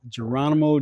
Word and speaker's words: Jeronimo: Geronimo. Just like the Indian.